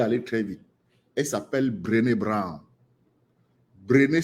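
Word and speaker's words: Brené: chercheuse ma langue aller très vite elle s'appelle brene Brown Bren s'écrit BR r e n e Bren Bran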